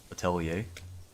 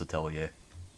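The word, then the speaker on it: Atelier: I kind of I want to though for Attelier Italier I think it's pronounced Italier.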